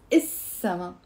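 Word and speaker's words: السما: down is little summer we pronounce it as isama the sky okay say it with me now with the liaison sama even if the sky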